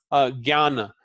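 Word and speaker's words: ज्ञान: It is pronounced like gya. So for example, jnana, as in Gyanendriyas.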